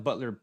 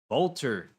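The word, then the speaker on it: Boulter: I feel like I am not pronouncing her name correctly. Let's go figure it out. Come on now. Bolter. That's Bolter. Knew I was saying it wrong.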